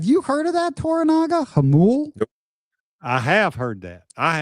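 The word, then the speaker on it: Jamul: Jamal is pronounced Hamul.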